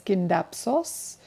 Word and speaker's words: Scindapsus: It's actually pronounced pronounced as Scindapsos, which means uh found on tree trunks I believe, and Pictus, which means painting.